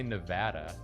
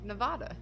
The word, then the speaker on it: Nevada: Some people say Nevada, but I've always thought that was stupid.